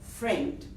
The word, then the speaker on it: friend: If the learners heard the word friend, they would write it as F-R-E-N-D since the I is silent.